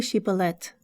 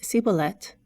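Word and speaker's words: Shibboleth: then they told him now say Shiba let but if he said siblet because he could not pronounce it right then they took him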